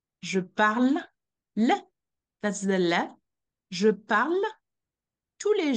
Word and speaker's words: parle: in the present tense when the verb ends with the E the E is silent you shouldn't pronounce it what is pronouncing said